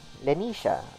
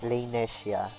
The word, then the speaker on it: Lanesia: So with that out of the way, Lenesia's mother, Lenisha, or Rainesia, actually depending on how you want to say her name. But the official translations actually uses Lanesia.